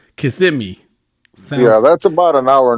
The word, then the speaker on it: Kissimmee: It's Kissimmee. Kissimmee.